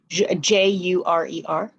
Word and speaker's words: jurer: Jurer.